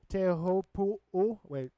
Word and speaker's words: Teahupo'o: Teahupo'o. There you go. I've learned that if you just pronounce every single letter, it's just like Hawaiian. Tahitian, you just pronounce each letter, you'll be golden.